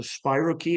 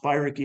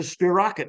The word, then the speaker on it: spirochete: But anyway, he's an Aussie guy, and he mispronounced spirochete, and he says, "It's a spirochete, mate."